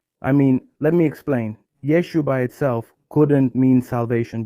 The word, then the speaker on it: Yeshua: It's true that if you pronounce the letter ayin at the end, that's actually how it should be said.